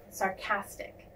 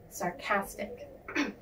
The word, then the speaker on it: sarcastic: of sarcasm is sarcastic the emphasis is on the second syllable sarcastic sarcastic now let's go over